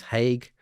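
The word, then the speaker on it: Haigh: former transport minister Louise Hague. Um I think I've been mispronouncing her name, but as I saw post on social media, it's h like the war crimes tribunal, right? Not hay like horse food.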